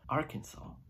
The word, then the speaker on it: Arkansas: the area the cancel Arkansas is originally the French spelling and the S is silent why is it French